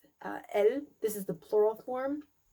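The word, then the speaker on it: elles: And then he says elle, this is the plural form. We also don't pronounce the last letter, so that also gets confused with the singular form elle, which means she.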